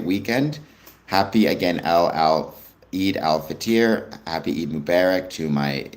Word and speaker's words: al-Fitr: It's pronounced al-Fitr.